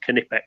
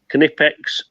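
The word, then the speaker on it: Knipex: so this is the canipex and it is pronounced canipex by the way canipex cobalt bolt croppers this makes short work of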